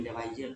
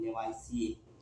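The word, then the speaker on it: Lavoisier: ई R Levi's जिगर English में लेवाइजियर पढ़ने हिंदी में लेवाइसिए लेवाइस जो आधुनिक में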